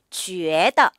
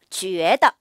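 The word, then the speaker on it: 觉得: 이것 을 발음 해 봅시다 . 주 에드 . 사실 이 안 에는 미묘 한 움라우트 발음 이 숨겨져 있습니다 . 그러니 " 주 " 라고 발음 해 주세요 .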